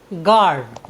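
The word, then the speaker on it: guard: के बीच आया है इसलिए हमने यू का उच्चारण नहीं किया है हमारा नेक्स्ट वर्ड मीनिंग है जी यू ए आर डी गर्ड गर्ड means होता है रक्षक और हमारा आज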